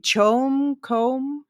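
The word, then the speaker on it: CHOAM: and here's another one we have to discuss pronunciation. Do you say Chom company? We'll go with Chom Company. It's an ac. It's an acronym.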